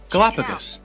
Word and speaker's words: Galapagos: Galapagos.